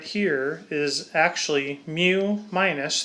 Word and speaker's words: mu: the mean mu again m e w is kind of how you say it mu and then I mark